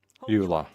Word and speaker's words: Eula: Eula. Okay. That's how you pronounce her name.